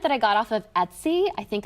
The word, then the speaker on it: Etsy: So on my side here, this is actually a print that I got off of Etsy. I think it's pronounced Etsy, E-T-S-Y.